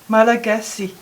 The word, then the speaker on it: Malagasy: and your first language is pronounced Malagasy.